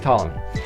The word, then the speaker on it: Ptolemy: like to say is for some reason the p is silent I don't know why uh maybe he had a thing with his last name I don't know but he's tomm me so he's our boy